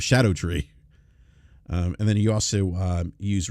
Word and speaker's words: Scadutree: It's spelled Scadutree. And I was actually pronouncing it Scatto Tree instead of Shadow Tree.